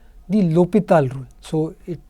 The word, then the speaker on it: L'Hôpital's: something else called the LHpitals rule. So, it's pronounced LHpitals. So, it's L with an apostrophe and H O with a symbol. This is French, and it's called LHpitals. So, the H is silent, and actually this word